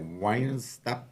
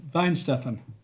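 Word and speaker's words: Weihenstephan: Wine stuff. The the the W spells like a V. So, Vine Stefan.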